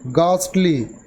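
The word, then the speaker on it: ghastly: ইন এ থ্রিটেনিং manner, ঘাস্টলি উচ্চারণ হবে গাস্টলি, ভয়াবহভাবে।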